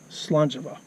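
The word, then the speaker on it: Slàinte mhath: a int e and it was pronounced in both places Salon Java so just in case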